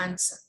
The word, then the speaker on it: answer: right also we have silent w like answer is not i swear it's the answer it's word to hold rock